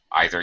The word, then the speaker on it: either: it too and uh either okay okay either either yeah either pronunciation is correct either or either i